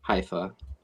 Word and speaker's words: Haifa: Uh allegedly missile strike in Haifa, Israel or Hafa? I don't know how you pronounce that. Haifa.